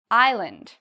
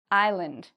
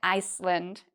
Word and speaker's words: island: Island. There's one silent letter in it. Do you know which one it is? Island. The S is silent. We don't say Iceland, we say island, okay?